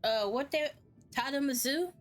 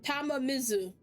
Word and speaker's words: Tamamizu: So, we have finally reached, Tadamazu? I think that's how you pronounce it. Hold on. Tamamizu. Yeah, I was right.